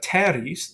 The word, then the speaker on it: teres: followed by a t then you have teres the first e is long by position because there's two RS after it and that final I and teres is long by Nature now Magis has nothing